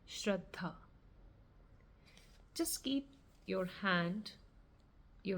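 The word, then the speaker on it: Shraddha: The pronunciation of the word is shreddha.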